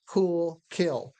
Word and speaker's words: cool: There's actually a little puff of air after the sound. That's called aspiration.